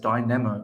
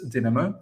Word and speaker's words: Dinamo: I hope I've pronounced this correctly because previously quite a few people took some offense the way I pronounced Dinamo. I said Dynamo. I hope it's Dinamo Zagreb, but we need to settle a score with them.